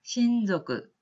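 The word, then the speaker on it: 親族: 그래서 이거 마찬가지로 친족이라고 하는 한자 자체를 음독을 해서 신조그 라고 읽으시면 되겠고요.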